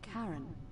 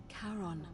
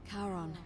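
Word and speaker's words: Charon: it's just as you described it only your pronunciation is a little off the name you heard wasn't Karen it was c h a r o n as in karon the Fairman of the Dead karon who in exchange for the right coin helps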